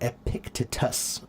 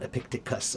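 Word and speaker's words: Epictetus: Uh, uh, I always pronounce his name wrong. Epictitus. Not Epictiticus. Epictitus.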